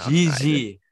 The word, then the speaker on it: Gigi: And 10, is it Gigi? I don't know how you pronounce it. Gigi Donnarumma. Exactly. Gigi.